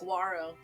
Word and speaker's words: saguaro: like a saguaro yeah so it would be spelled like saguero if you wanted to like pronounce it like you're all just typing i don't know what it is that's how it's spelled but it's aguaro yeah but it's a uh it's a spanish word so yeah saguaro i